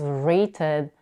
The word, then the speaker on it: rated: tense of rate is rated and the past tense of the site is decided both verbs end with UD in their past forms so when it comes